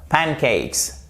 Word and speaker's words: pancakes: Même chose, pancakes et pas pancakes, non, pancakes.